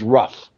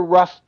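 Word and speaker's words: Rugh: I'm assuming the pronunciation is Ruff.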